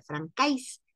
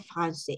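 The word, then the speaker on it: français: llevar una sedil Entonces cuando lleva la sedil ya no dice Francis sino que dice francés y de hecho eh Aunque no lleve la sedil porque acuérdense que el idioma francés Es flexible al igual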